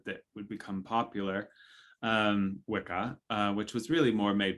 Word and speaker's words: Wicca: it is true and wicca which i point out at nauseum is pronounced witcha if you pronounce it correctly and it's just old english it's old english that's